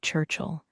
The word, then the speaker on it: Churchill: He pronounced it without the I. So it sounded like Churchill.